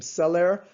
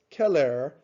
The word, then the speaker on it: Celer: would pronounce his name celer but actually in latin the c was always pronounced as if it were a k sound so his name was keller okay but now we